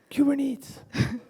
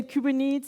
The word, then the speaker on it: Kubernetes: Yes, so some people say Kubernetes, some people say Kubernetes, blah. This is actually the Greek inscriptions of how you would pronounce this word, because this word is from Greek.